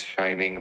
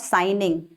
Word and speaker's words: shining: So it's the sun is shining brightly today. Shining, not signing.